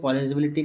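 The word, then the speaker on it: polarizability: बोलते हैं अपन बेटा, पॉलराइजेबिलिटी बोलते हैं। क्या बोले जाते हैं, पोलराइजेबिलिटी। इसको अपन पोलराइजेबिलिटी भी बोलते हैं कई बार, क्या प्रोनाउंस करता है, पोलराइजेबिलिटी भी।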